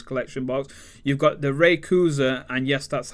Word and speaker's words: Rayquaza: You've got the Rayquaza, and yes, that's how you do pronounce it.